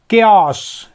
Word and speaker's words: chaos: CHAOS, क्योस, क्योस मतलब होता है अव्यवस्था, अराजकता, गड़बड़ी।